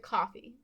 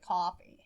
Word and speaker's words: Ko-fi: So if you would like to support us doing that, we have opened up a Ko-fi account, or is it coffee? I always pronounced it coffee.